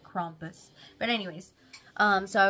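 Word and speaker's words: Krampus: sheep whatever it is into crampus or crompus I don't know how it's supposed to be said I think it's everybody says it's you're supposed to pronounce it crompus but anyways um so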